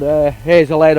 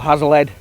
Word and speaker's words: Hazlehead: Yeah, the old Hazelhead or Hazlehead, depending which way you want to pronounce it, station that runs across the TPT.